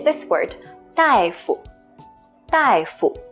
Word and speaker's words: 大夫: So it's this word, 大夫.